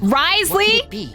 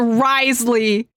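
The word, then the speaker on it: Wriothesley: does have a plan risely shut up that's how his name's pronounced that's the most shocking thing of today that's literally the most shocking thing of today it cannot be pronounced wisely huh you're telling me the name with a th is wisely where's the O the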